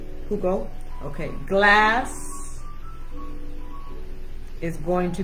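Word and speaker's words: jugo: I think the J is pronounced like an H. Hugo. Hugo.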